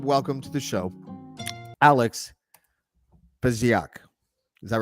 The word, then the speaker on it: Fesiak: So without further ado, I would like to welcome to the show Alex Fesiak. Is that right? That's right. I did it. Yeah. I did the pronunciation correctly.